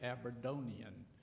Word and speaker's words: Aberdonian: his family he was a great Aberdonian and that's the right way to say it he uh he served